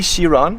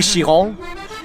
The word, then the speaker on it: Chiron: So Louis Chiron, I didn't pronounce that perfectly. It's Louis Chiron.